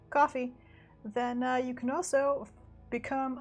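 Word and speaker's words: Ko-fi: am that kofi is spelled kofi and not coffee but pronounced coffee then you can also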